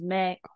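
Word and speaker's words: 名: for me hi so this knob right here is pronounced as Mei this means a bad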